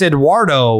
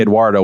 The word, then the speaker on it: Eduard: edward no it's it's it's eduardo without the o that's not how you spell edward so how would you say eduardo without the o edward